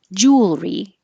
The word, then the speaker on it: jewelry: foyer foyer or entryway jewelry we drop the middle e so it just becomes two syllables and I only have